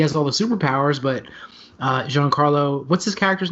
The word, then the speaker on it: Giancarlo: call him moth gideon i said my name john carlo esposito for years i now say it the way it's properly pronounced my name is giancarlo esposito so maf gideon without